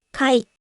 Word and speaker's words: 貝: Kamu bisa lihat Kai, tetap dibaca Kai, di kata majemuk.